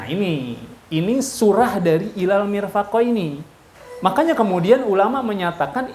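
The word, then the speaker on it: مرفق: Eh marfi marfi ini mirfaqini ggak jadi masalah tuh mau baca marfik atau mirfaq cuma yang lebih absoh lebih fasihat adalah mirfaq selesai itu tentang masalah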